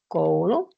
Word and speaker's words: koulu: When you pronounce koulu, your tongue is a bit more back in your mouth. It's not so front as it was when you said pöytä. Koulu, your mouth has a different position there.